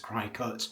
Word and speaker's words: Cricut: Interestingly, the Americans call them Cricut machines, but as it's spelt Cricut and as it's literally a cutting machine, I think I'm going to carry on calling it a Cricut.